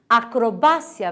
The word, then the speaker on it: acrobacia: Acrobácia, vejam que difere a sílaba tônica, em português é acrobacia.